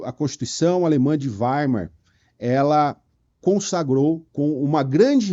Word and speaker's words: Weimar: a constituição alemã alemã de Weimar ou veimar tá a gente tá a gente fala português você pode falar veimar não vai tá errado tá mas não fala alemão mas me parece que a pronúncia no alemã no alemão é Weimar e essa constituição é